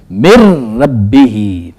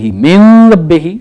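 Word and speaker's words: مِن رَّبِّ: आपको दे देता हूं मिन रब्ब मिन नून साकिन है उसके बाद देखिए रे आ गया इस रे में क्या करना है कि गोया कि इस नून की आवाज को खत्म कर देना उसने इसको साइलेंट कर देना अब हम इसको यूं पढ़ेंगे मिर रब्ब मिर रब्ब मिन रही गलत है मेर रही और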